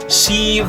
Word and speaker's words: sieve: Sieve the floor, not sieve the floor. Don't keep the word sieve short. It's sieve the floor.